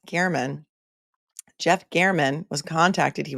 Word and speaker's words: German: allegedly that Jeff Gman it's spelled German g e r m but it's pronounced Garman Jeff Gan was contacted